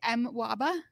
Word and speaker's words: MWABA: Metro Washington Association of Blind Athletes, we're going to call, how were we pronouncing it earlier? I say MWABA. That's what we're going to call it from now on.